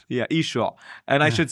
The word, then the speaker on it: Yeshua: First of all, how do you say the name of Jesus? Yeshua. Yeshua? Yeshua, yeah. Or like, I said Yeshua, the same thing you said.